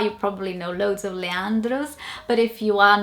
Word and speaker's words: Leandro: anyone here pronounce, or so I'm just guessing how people here would say it, Leandro or Leandro, but not Leandro, which is how we would say it in Portuguese.